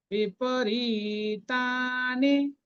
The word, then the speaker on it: বিপরীতানি: বিপরীতানি কেশব, বিপরীতানি, রি এবং তাটা দীর্ঘ, কেশব, কেশব, কেটা দীর্ঘ।